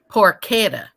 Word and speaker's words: porchetta: really expensive um okay he said it's pronounced porchetta I didn't know that